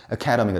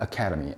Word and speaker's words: academy: 그래서 발음이 academy가 된다. academy.